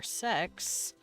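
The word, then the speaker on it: seks: Funnily enough, in Danish, 6 is pronounced sex, yeah.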